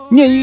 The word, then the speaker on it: 廿: The character “nian” in this title actually means twenty, and it is pronounced the same as the nian in “to miss” or “to think of.”